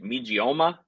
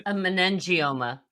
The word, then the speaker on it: meningioma: Yeah, it's and I don't ever pronounce it right. Megioma. It's basically a meningioma.